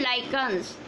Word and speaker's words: lichens: लाइकन एक plant होता है, LICHENS है, इसकी प्रोनाउंसिएशन है लाइकन्स.